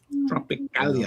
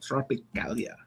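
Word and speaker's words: Tropicália: Tropicalia. I like the way you said that. Tropicalia.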